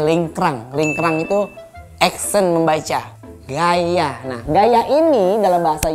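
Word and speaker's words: Γαῖα: Gaya. Nah, gaya ini dalam bahasa Yunani yang artinya adalah Dewi Bumi. Nah, gaya juga.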